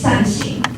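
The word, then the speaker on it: 扇形: Circular doors are popular in Taiwan because in Mandarin, these doors are called fan-shaped, 扇形, which is the same pronunciation as doing good deeds, 善行, which means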